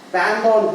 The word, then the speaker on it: pendant: Pendant means it is during. Pendant. En we use as a, and whereas an we use as a. So we pronounce it as pendant.